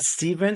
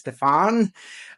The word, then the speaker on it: Stéphane: It's not Stephen, it's Stéphane. I'm French Canadian, so you will see by my accent, I'm not from the US.